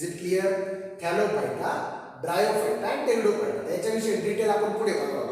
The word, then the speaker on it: pteridophyta: that is thallophyta, bryophyta, pteridophyta. Here it is P is silent. So there are 3 divisions. Cryptogams are classified into 3 divisions: thallophyta, bryophyta and pteridophyta. Is it clear? Thallophyta, bryophyta and pteridophyta.